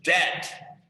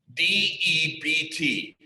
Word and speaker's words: debt: it is the word debt d-e-b-t the b is silent debt and it it